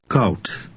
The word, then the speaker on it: koud: Dutch OU resembles the English sound ow, as in the word how, only it's shorter. Read 26 aloud. Koud. Remember that D at the end of a Dutch word resembles a T sound.